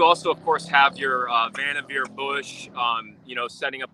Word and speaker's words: Vannevar: By the way, David, it rhymes with your favorite word, beaver, Vannevar. Oh, Vannevar, like beaver.